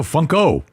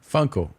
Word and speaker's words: Funko: It rhymes with uncle. Funko. Fuckle. No, Funko. Funko.